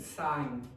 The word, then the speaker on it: sign: Sign. Sign. And what's the miss? Yeah. The G is disappeared as well. Okay. Like design as well.